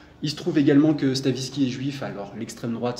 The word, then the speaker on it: Stavisky: qui s'appelle l'affaire Stavinsky donc Stavinski ça s'écrit sta V i s k y et Stavisky en gros